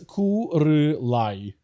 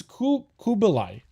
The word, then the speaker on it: Kubilai: It is Kurilai. No, it's not a re. It's Kubilai. Kubilai. It's a B, not an R.